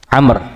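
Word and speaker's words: عمرو: Walaupun ya tidak ada sakut paut antara Daud dan Amr, tapi ditulis dengan menggunakan wau untuk membedakan dengan Umar. Kalau ada ain, mim, dan ro kita bacanya Umar. Tapi kalau ada wunnya namanya Amr.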